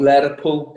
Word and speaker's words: Lerpwl: Lerpwl? Lerpwl. It depends. You need to put a bit more of a stronger Welsh accent on when you say it.